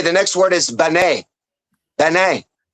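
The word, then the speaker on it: בן: Ben. It's just No, it's not. It's not. Yes, it's ben.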